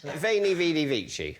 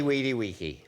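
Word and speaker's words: veni, vidi, vici: one or two a man of your learning veni vidi vici obviously we D we ki yes depending on how you pronounce it what does it mean I came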